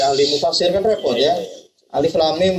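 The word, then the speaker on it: الم: mufasir kan repot ya Alif Lam Mim bacanya alam mim kan repot alam Al atau Kalau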